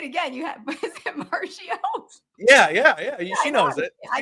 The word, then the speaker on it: Marchio: You have, is it Marchio?